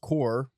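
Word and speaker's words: Kaur: But as of 2019, Ruby Carr had 3.8 million followers. It doesn't say where. I'm assuming Instagram because it's Insta poet. So Carr, pronounced core immediately wrong.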